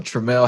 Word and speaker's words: Tramelle: So Tramelle Howard, I pronounced your first name correctly, right? That is correct, Tramelle Howard.